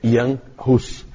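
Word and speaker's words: Jan Hus: não conhece não sabe como pronuncia mas a pronúncia é Yan Russo Na verdade é um apelido para iohannes é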